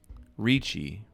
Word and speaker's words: Ricci: It's not Nicole Richie. It's Ricci.